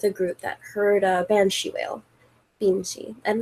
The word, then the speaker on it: banshee: it's spelt bean, but it's pronounced ban.